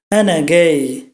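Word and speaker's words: أنا جاي: চাই তাহলে এভাবে বলবো এনাগেই এনা গেই এখানে আপনি খেয়াল করলে দেখবেন যে এটা লেখা হয়েছে জিম দিয়ে কিন্তু উচ্চারণ হচ্ছে গিমের মত করে উচ্চারণ হচ্ছে গিম কিন্তু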